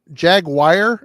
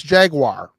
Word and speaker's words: Jaguar: Jaguar. It's Jaguar, not Jaguar. Jaguar. I've heard I've heard people from the south call it Jaguar. How is this call Jaguar? It's Jaguar.